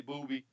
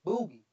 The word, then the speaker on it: Boogie: Is his name really Booby? Yeah, I had something else. So he told me, he said, "Yeah, you got my name wrong. My name is Boogie."